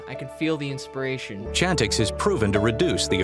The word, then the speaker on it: Chantix: called shantix chantix i i say it like shantix with an sh but it's chantix chantix i live in northport